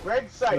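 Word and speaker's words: Greg Cipes: Yes, Greg Sykes. Yeah, That's right. I don't know if I'm pronouncing that.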